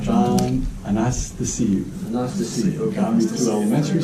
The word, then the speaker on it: Anastasiou: A-N-A-S-T-A-S-I-O-U. And it's pronounced as if you're saying, "How nice to see you." Yeah, that's what I... John Anastasiou.